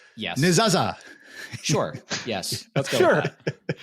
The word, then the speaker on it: Nezasa: I say Nezasa because I have an obnoxious American accent, but we are a Swiss-German-based company in Zurich, and they all say, I won't do the accent, but they pronounce it slightly differently due to the locale that they're from. So it's however you want to call it.